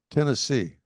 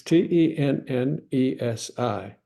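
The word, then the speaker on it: tenge: I wasn't in Turkmenistan, but Tennessee. That's the way you're pronouncing it, just like the state. Sounds like the state. Tennessee, Tennessee. Tennessee. Well, you're close. It's Tennesi.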